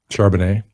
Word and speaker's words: Charbonnet: Zach Charbonnet out of UCLA is a guy as well. I'll let you pronounce that name.